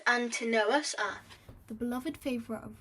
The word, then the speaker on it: Antinous: lover of emperor adrian antonus pronounced antanos ah the beloved favorite